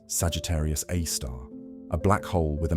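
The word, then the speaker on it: Sagittarius A*: Our galactic center hosts Sagittarius A star, pronounced Sagittarius A star, a black hole with a mass of about 4 million suns.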